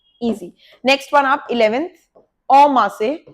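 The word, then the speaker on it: en masse: Next one आप 11th, ओमा से, इसे एन नहीं बोलते, ओमा से।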